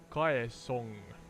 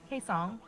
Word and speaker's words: Kaesong: or demilitarized zone near Kaesong. I'm not sure how to pronounce that. Kaesong. I think it's pronounced like Kaesong.